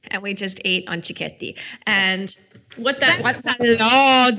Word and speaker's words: cicchetti: how to pronounce it so is chti it's not chichetti okay because CH in Italian is K so it's chti and the word comes